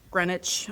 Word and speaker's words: Greenwich: I find it interesting looks looks like Greenwich, but look like Greenwich, but it's pronounced Greenwich.